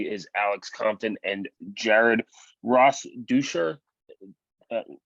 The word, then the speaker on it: Rosdeutscher: Along with me is Alex Compton and Jared Rosdeutscher. Uh, how do you pronounce Yeah, the last name? yeah, it's Rosdeutscher. Rosdeutscher.